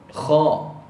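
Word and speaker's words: خاء: nama dia tak betul banyak orang sebut k kalau tanya Huruf apa Depa kata huruf k bukan huruf k nama dia k ejaan dalam bahasa Melayu Rumi kita akan Eja k k h a ada koma kat atas tu Kha yang mana ejaan dalam bahasa Arab Kha fathah ada Alif kemudian ada Hamzah selepas pada Alif Kha Kha nama dia Kha lepas ni kalau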